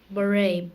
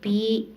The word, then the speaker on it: beret: Beret. Barray. Beret. Nice try. It's kind of a weird word. It's B-E-R-E-T, but it's pronounced beret.